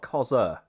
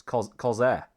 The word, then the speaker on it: Corsair: No, it's not Corsair. It's Corsair.